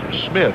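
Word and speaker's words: Smyth: You know, ironically, he spells his name S M Y T. That's pronounced Smith.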